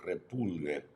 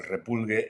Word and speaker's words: repulgue: El repulgue, again, something you need to be able to roll your R's to say.